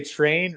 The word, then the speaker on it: train: so when you say train really hit like make sure the r is well pronounced train trim okay uh to